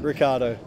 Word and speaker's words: Ricciardo: Ricciardo. It's Ricciardo. Second eye is silent.